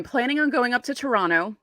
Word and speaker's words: Toronto: on going up to Toronto I'm going to say it like a native and not say the second T and I'm planning on